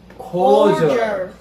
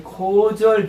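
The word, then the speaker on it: cordial: 우리가 볼 때는 코 코디얼 안 하고 거의 코절 비슷하게.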